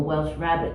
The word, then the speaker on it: Welsh rarebit: Cheese on toast, for example, Welsh rabbit we call it, Welsh rarebit, pronounced such.